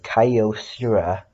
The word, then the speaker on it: Kyocera: decade old flip phone by the brand of Kyocera that's how you pronounce it this was my mother's flip phone